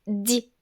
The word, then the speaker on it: dix: On prononce 6 et 10 comme si et di lorsqu'ils sont suivis d'un mot qui commence par une consonne.